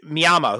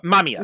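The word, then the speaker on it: Mamiya: um this idea that myama who is the the the killer in it or you know the one who's inducing The Killers uh uh mamia sorry mispronounced his name um mamia yeah but he's he's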